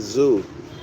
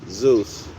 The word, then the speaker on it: Zeus: Sometimes they pronounce it Zoo, Z-E-W. All right, Zeus.